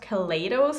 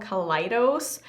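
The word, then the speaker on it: Kaleidos: their Instagram page that it's not pronounced Calais Dose, it's called Calais Dose, and I thought I would just kind of mention it because I keep saying it wrong all the time. I've said Calais Dose for the longest time, but it's Calais Dose.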